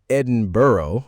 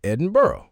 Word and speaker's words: Edinburgh: And you say Edinburgh and we say Edinburgh.